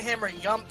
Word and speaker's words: hammer yump: Why is it called a hammer yump instead of a hammer jump? Because that's how the person who named the trick pronounced it. They were, I believe, Swedish.